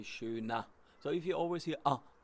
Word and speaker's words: schöner: Please remember, my pronunciation, German, they do not pronounce schöner, especially because the rolling R is not the specialty of the German. So you say schöner.